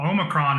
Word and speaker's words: Omicron: Because I've seen about 3 different pronunciations of it. Well, Omicron is how I say it.